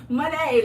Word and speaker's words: Monet: Oh, Monet. Monet, like money.